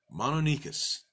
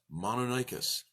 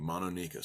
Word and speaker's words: Mononykus: it a little bit different the name is mono NICUs I learned it as mono dicus I've heard it pronounced Monachus so we're gonna go with mono NICUs cuz